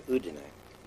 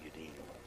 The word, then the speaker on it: Udine: we got to Udine, which I've learned to pronounce since we used to call it Udine area, which is near